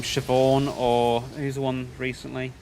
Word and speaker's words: Siobhan: see like the name siobhan or who's the one recently um sinead i think it's another one um like cyobarn or well i never say it that way but in my head